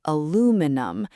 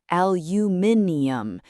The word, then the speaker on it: aluminium: Americans say aluminum. British say aluminium. And they even spell it differently. Americans spell it aluminum. British spell it aluminium with an extra I.